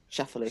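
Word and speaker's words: Schauffele: uh she says um Accent on first syllable short a long e so oh right okay so sha shaff shaff shaff is he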